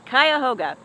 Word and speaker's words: Cuyahoga: to see how to say it but it's kayoga the number one thing to do in kayoga